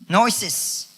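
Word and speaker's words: γνῶσις: ओ एस आई एस नोस और यह जो शब्द है नॉलेज जिस यूनानी शब्द से निकला है उ उसका उच्चारण है या उसको उसको बोला जाता है नोसेस के हिसाब से च मीस नोइंग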